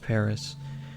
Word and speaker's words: PVRIS: recommendation there by a band called paris or pvris it is pronounced paris namely album white noise